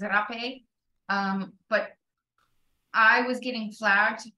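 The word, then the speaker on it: rapé: And then in Portuguese, they say it as rape.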